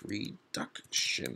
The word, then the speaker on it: reduction: syllable so reduction exactly it's reduction that's actually the middle one second syllable reduction not reduction direction or